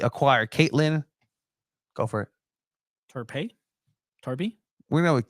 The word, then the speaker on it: Torpy: acquired Australian defender Caitlin Topi from Melbourne City. Again, if my pronunciation is wrong, let me know in the comments because I always point it out to you. And Torpy. It's Torpy. And I've seen highlights just